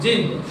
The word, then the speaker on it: jinn: Jinn. This you can pronounce JINN, Jinn.